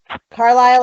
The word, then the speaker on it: Carlisle: Carlisle, like the town in Pennsylvania. The man's name, Carl, and Isle, like an island.